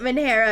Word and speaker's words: Manhara: The h in manhara is supposed to be said.